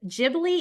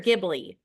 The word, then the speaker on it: Ghibli: And then how do you say the Ghibli? Is it Ghibli or Ghibli?